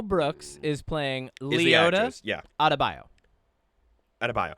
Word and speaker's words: Adebayo: Adebayo. Adebayo.